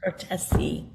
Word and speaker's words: Cortese: Cortese.